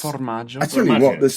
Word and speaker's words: formaggio: What we were asking very kindly to do is to pronounce for us in authentic sort of Genoese voice the Italian word for cheese. Formaggio.